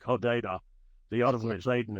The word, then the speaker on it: Hodeidah: second major port in Yemen, and I've always mispronounced it, but it's like Hodeidah. The other one is Aden itself. It's Hodeidah.